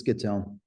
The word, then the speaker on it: Schittone: Did I say that right? Schittone? It's Schittone, but it's all Schittone.